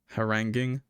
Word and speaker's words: haranguing: Haranguing is the pronunciation.